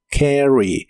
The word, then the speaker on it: carry: La a se pronuncia como una combinación de los sonidos e y a, por eso suena como carry. Carry.